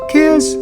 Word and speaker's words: Kiss: Just say it like I say it. Kiss. Yeah. You got to have a little edge to yourself. It's not like Prince's Kiss. It's Kiss.